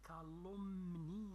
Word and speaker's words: calomnie: Les calomnies se lit calomnie, d'accord, le M on ne le prononce pas.